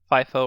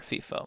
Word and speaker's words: FIFO: So this ordering principle is sometimes called first in, first out, or FIFO, FIFO, or FIFO, depending how you want to pronounce it.